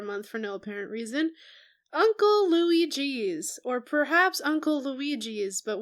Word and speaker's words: Louie G.'s: The spelling indicates Louis space G. And that's the way that I say it because I'm going to go with the grammatically precise choice.